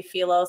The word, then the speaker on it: Philos: it wrong right it's well people say phos but I I say felos I think most people say felos but I've heard it said both times both I'll try to